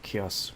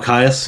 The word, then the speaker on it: Kyuss: And then of course anything from, I don't know how you pronounce it, Kyuss, Kyuss. Oh, Caius, yeah.